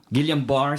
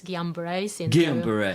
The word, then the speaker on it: Guillain-Barre: had a child with GBS how do you pronounce that Guillain-Barre syndrome I heard this as guiambres all right GPS okay a three-year-old at three